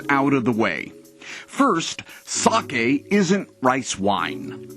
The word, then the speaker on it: sake: to jaegermeister and third for the record it's pronounced sake not sake sake not sake now there are five basic